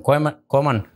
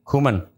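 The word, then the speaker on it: Koeman: de factores pero definitivamente con kanan Cómo se dice Cómo se dice correcto kuman kuman Ronald con Ronald kuman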